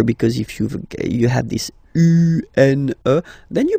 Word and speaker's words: un: So if you listen to me, you don't hear any N, okay? So it's just a combination of the two.